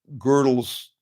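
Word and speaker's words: Gödel: Girdle is spelled G O D E L. And uh it's basically a conversation. Girdle Girdle mighty is like God Almighty.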